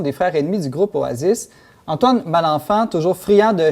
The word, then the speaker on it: Oasis: Bon, moi, je l'ai dit à la française, Oasis, mais on prononce plutôt Oasis.